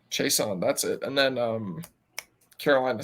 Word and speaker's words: Chiasson: Chiasson. I never know how to say his name. Chason, that's it.